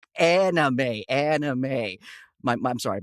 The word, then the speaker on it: anime: It's anime, anime.